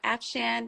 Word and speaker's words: Afshan: Town Georgia you know afshan rhymes with Afghan and I'm like as long as I know who you're referring to that sound rhymes with Afghan in small town Georgia I love that so